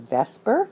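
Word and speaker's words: VSEPR: other as possible that the acronym for that is Vesper that's how you pronounce it but that stands for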